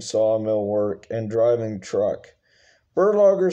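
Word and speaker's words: Berlogger: yoke yugosla oven uh last name is actually pronounced burlager maybe the profession was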